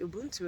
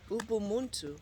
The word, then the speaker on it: Ubuntu: Ubuntu. Ubuntu and Ubuntu. Ubuntu. Ubu, not umbu.